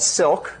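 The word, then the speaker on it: Cilk: Okay, so we've developed a dynamic multi-threaded language called Silk, spelled with a C because it's based on the language C, and it's not an acronym. It's because silk is like nice threads.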